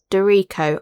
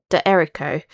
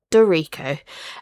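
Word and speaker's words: d'Errico: So, it's Camila Dero. I've always said D Erico cuz I thought it was like duh and then Ero. So, yeah, I've been pronouncing her name wrong all of this time.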